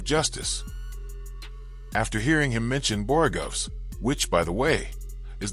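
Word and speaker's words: borogoves: After hearing him mention Borugovs, which by the way is the correct pronunciation, I stumbled upon a few fun facts worth sharing.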